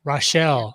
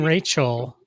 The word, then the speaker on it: Rachel: today uh but the guest of honor is rochelle i mean rachel you don't pronounce that rochelle no that's not hi everyone